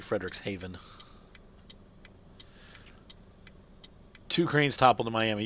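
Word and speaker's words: Frederikshavn: it like sound different Friedrichs shavon it's actually Frederick's Haven two cranes toppled in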